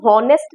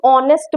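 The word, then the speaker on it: honest: ठीक है, इसमें एच जो होता है वो साइलेंट होता है, एच की हम हॉनेस्ट नहीं बोलते हैं, हम ऑनेस्ट बोलते हैं।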